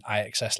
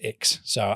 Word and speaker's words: IXS: But as well as that, we're going to bring in IXS leathers. Oh wow. Which is pronounced Ix. So I'm in Ix.